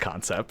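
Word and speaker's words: Kansept: how to pronounce it it's just pronounced concept so i just feel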